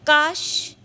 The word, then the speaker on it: काश: काश, ये शलगम वाला श आया है यहाँ पे, तो काश यानी खांसी, और कास, ये जो सब्जी वाला स है दांत से प्रोनाउंसिएशन करते हैं।